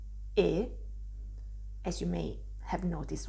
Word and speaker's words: e: after me my pronunciation you can see my lips here are still quite closed close to a e sound but not that close to each other just a bit more open but still pretty close e and this letter which is actually a word means and e this sound is actually called a closed a sound in italian because my lips are pretty closed when i pronounce the sound i can use this